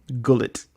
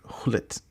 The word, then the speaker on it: Gullit: what did I say gullet oh cuz I pronounced the G and it's not I'm sorry my bad my I think I think it's hit but who cares so